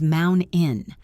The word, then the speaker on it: mountain: We stop the air in our throat. Mountain becomes mount in. Curtain becomes curin.